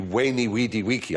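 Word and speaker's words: veni, vidi, vici: swiss wine called vine when i was taught latin we were taught to pronounce the v as a w so it would be wayney weedy wiki i came i saw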